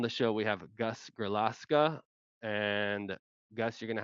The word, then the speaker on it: Grillasca: Okay, I'm gonna say Grillasca then, and not try not to butcher it too much by trying to pronounce it in Spanish.